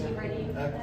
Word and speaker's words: Giverny: I think it's Giverny.